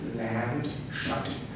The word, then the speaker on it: Landshut: You would pronounce it Landshut, and it is Landshut.